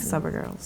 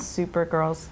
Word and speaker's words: SUPergirls: girls yeah the website the Instagram Facebook Atlantic supper girls OSU PE are its girl bailed super girls but it's pronounced supper gross yeah